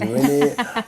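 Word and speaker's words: Renate: It's R-E-N-A-T-E, but the T is silent. It's Renee.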